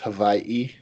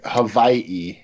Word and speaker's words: Hawaii: cities it's actually pronounced Hawaii the the Hawaiians do not use the W so they pronounce it as a V so like Hawaii is the correct pronunciation